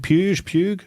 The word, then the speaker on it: Puig: How do you pronounce this, Jimmy? P-U-I-G. Puig? David Puig?